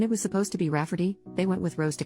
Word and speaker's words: Rafferty: I don't know if you remember my post from a few weeks back about my sister wanting to name my niece Rayfarty, pronounced Rafferty, not at all like Rayfarty.